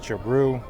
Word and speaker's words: Giroux: the name, and as it's just pronounced and spelled exactly like the hockey player Claude Giroux from the Flyers. Martin gets the pass. Tigers really playing well today. Defense, Giroux.